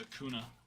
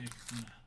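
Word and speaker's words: Acuña: Who is this wrong with a kuna? People who still say auna. Now, in their defense, I don't think they actually put the Oh, they do put the nay.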